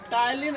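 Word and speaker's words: ptyalin: से जाना जाता है यह आपका पी जो है वो साइलेंट हो जाएगा टाइलिन एंजाइम टाइलिन एमाइज एंजाइम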